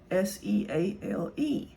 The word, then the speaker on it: Seale: My maiden name was Seal, Seale. It's pronounced seal, like the animal.